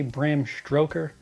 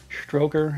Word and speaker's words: Bram Stoker: Nobody gets it when I say Bram Stoker. Stroker, as in, you know, pleasing oneself.